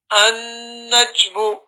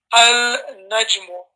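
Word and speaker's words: النجم: An-najmu. Notice we didn't say al-najmu. It's difficult. It's more difficult to say al-najmu than it is to say An-najmu.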